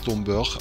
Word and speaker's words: Domburg: Domburg wird übrigens als Dombörch ausgesprochen. Zumindest so ähnlich.